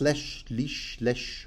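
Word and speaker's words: leche: A lesh, that's pronounced lesh of brawn, spiced with cinnamon, cloves, sugar, and almond milk.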